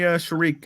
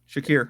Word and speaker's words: Shakir: Give me Sharik or whatever how you say his name. Shakir, yeah.